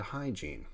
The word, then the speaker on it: hygiene: practice good healing practice good habits practice good hygiene H should be hygiene I make a joke